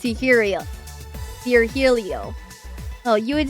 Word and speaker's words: Virgilio: No, I'm pretty sure you said it's Virgilio.